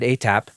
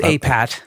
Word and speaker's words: APAT: So I wanted to ask you a little bit about your band, ATAP. Oh, I pronounced it wrong. It's APAT.